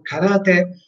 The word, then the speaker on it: karate: Si pronunciano sia la che te con l'accento karate, ok? Adriano, diciamo, Adriano, tu metti un accento di troppo per i miei gusti, non c'è da accentare anche il ka.